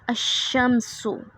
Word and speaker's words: الشمس: کر کے پڑھتے ہیں، یعنی کہ لام کا تلفظ نہیں ہوتا۔ جیسے کہ الشمس، الشمس، اب شروع میں جب